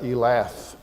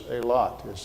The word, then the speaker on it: Eilat: don't you say that Elath? But what happens is if the E lengthens and has an A pronunciation, just like in Spanish, when the E lengthens,